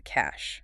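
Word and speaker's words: cache: And the third pillar is the cash, spelled C-A-C-H-E, pronounced cash.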